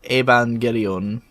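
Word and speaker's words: エヴァンゲリオン: pronounce properly yeah well technically it would be um the japanese name would be shin seiki iban gereon so you can really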